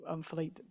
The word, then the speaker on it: Philippe: I think, Philippe, those are really, sorry, I've got a French person, Philip, not Philippe.